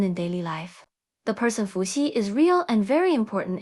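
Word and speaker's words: 伏羲: with a rising voice the pronunciation of she is similar to the English word c but in Chinese she is pronounced with a weaker airf flow and the tip of the tongue is more forward we can imitate and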